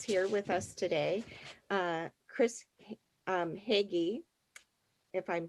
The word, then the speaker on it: Haughee: Chris Haughee, if I'm pronouncing it correctly. Well, it's actually pronounced Hoy, but it doesn't look anything like that.